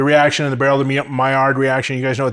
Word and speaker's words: Maillard: And I'm like, why the f are the L's in there if you don't pronounce them?